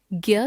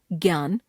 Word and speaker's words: ज्ञ: ज्ञ वर्ण, यह वर्ण ज जमा इय जमा अ ध्वनियों का संयुक्त रूप है। इसके उदाहरण हैं आज्ञा, यज्ञ, ज्ञान, विज्ञान आदि। हिंदी में इसका उच्चारण ज्ञ ग जमा य के रूप में होने लगा है।